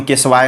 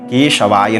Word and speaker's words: केशवाय: पढ़ने नहीं आता है बहुत से पंडित जी लोग बोलते हैं ओम केशवा नमः ओम केशवा नमः ओम नारायणाय नमः ऐसे भी बहुत पंडित जी लोग बोलते हैं लेकिन शुद्ध उच्चारण होता है ओम केशवाया नमः ठीक है ओम नारायणाय